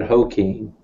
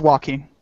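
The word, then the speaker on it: Joaquin: how you pronounce him I always said Hing no it's walking okay I cuz I i' never heard anyone say Walkin kind like Christopher Walkin yeah it's a it's a Spanish name so yeah I said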